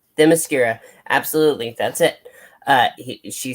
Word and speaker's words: Themyscira: I cannot pronounce this island's name. Well, Themyscira. Themyscira.